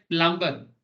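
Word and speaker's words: plumber: जैसे हम लोग बोलते हैं प्लम्बर, है ना, घर पे जो लोग प्लम्बिंग का काम करते हैं, बट बोलते हैं कि ये बी साइलेंट है, बोलते प्लामा प्लम्बर होगा, ऐसे बोलते हैं।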